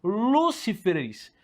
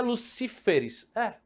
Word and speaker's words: Lucíferes: Se eu coloco essa palavra no plural, ela ficou Lúciferes. Então não pode, porque eu não posso ter a quarta sílaba acentuada. Então para onde é que vai o acento? Então o plural de Lúcifer é Lucíferes.